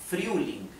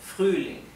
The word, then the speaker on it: Frühling: La R, R es suave, Frühling, y la U es U, Frühling, ¿bien?